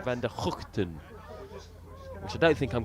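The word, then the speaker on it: van der Gugten: And they were telling me the correct way to pronounce Tim's name is Tim van der Houten.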